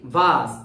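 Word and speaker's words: vase: ভি এস ই ভাস এটার উচ্চারণ হচ্ছে কি ভাস ভাস ভি এ বানানটা হচ্ছে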